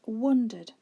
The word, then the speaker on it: wander: The couple wandered slowly through the town streets. In this sentence, you might immediately discover that the word which is spelt wrongly is the third word, wandered.